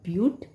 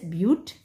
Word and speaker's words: but: Four carbon atom, we call bute. But we'll write, but we pronounce it as bute.